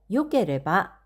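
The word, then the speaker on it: よければ: 그래서 스타일모 요케레바 이 데스네 이렇게 표현을 했습니다. 뒤에 케레바가 붙는 경우에는 요라고 읽으셔야 되고요.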